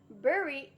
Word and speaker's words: bury: Bury is pronounced like berry.